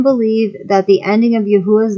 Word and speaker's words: Yahuah: consisted of 4 vowels, with the UAU having the U sound, which agrees with the Assyrian pronunciation Yahuah and is pronounced Yahuah.